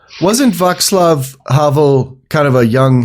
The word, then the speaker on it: Václav: No, it's Václav. There is no K.